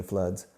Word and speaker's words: flood: Don't confuse it with food, which is what you eat.